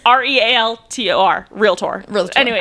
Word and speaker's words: Realtor: The only reason why I know that it's pronounced realtor and not realer because I couldn't apparently